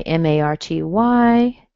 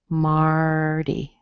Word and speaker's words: Marty: think you asked, Martin, we just go back to the rule with a little E at the end and say Marty, Marty. In this case, the T is completely different. It's been softened, Marty.